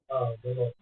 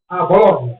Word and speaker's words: Bologna: Bologna. Bologna.